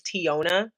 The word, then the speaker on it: Teona: It's Tiona. People say my name wrong all the time.